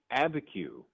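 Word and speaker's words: Abiquiu: It is Abeku actually.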